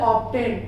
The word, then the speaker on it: obtain: अब यहाँ पर एक एक्सेप्शन वर्ड दिया गया, ऑब्टेन, OBTAIN, ये एक ऐसा वर्ड है जहां पर बी साइलेंट नहीं होता है।